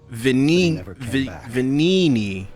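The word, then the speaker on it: Venigni: Venini. Please. The G is silent.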